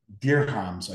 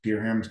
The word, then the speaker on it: dirham: United Arab Emirates for deer comms I believe it's pronounced I'm not exactly sure how to pronounce it but it's d-i-r-h-a-m-s deer hams Dar hums anyways in India in